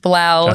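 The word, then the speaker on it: 3LAU: The DJ Three Three Lao, which is pronounced Blau, has uh participated in others.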